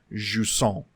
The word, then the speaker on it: Jusant: Okay, yeah, and so because they are French, it is actually pronounced Jusson.